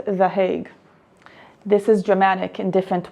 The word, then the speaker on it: The Hague: I've been calling it the hug, as that's how you say it in Hebrew, but they're not hugging us, so let's go with The Hague.